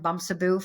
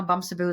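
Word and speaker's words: Bamsebu: how to pronounce it. I love Yeah, it. It sounds better when you say it. Okay. Bumsaboo, it means little Yeah.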